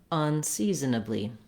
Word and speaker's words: unseasonably: So you don't necessarily have to go super, super fast, but what you want is that you have length here, and then you don't have length in these syllables.